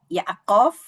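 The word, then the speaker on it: יעקב: Jadi kalau nama Yakub bahasa Ibraninya Yaakov karena ada yodnya di depan tapi di paling kanan kalau cara kita membaca.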